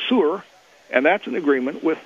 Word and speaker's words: Sur: Native pronunciation of Tyre is Sur, and that's in agreement with the East Indian sun god Surya, who's the son of Kanjapa, their version of Sidon.